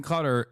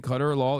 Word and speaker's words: Qatar: Okay, you are pronouncing cutter wrong. You keep saying cutter law instead ofQatar.